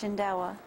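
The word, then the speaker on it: Shindaiwa: It is pronounced Shindawa. Well, if you already going to say it, then why didn't I say it? I know you're looking for your notes. I got to spell that here. Shindawa.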